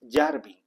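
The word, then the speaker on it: Yarvin: Miren ustedes, por ejemplo, hay un ideólogo, filósofo, como quiera que se le llame, que se llama Curtis Jarvi, lo pronuncio como se escribe, Curtis Yarby con Y pequeña.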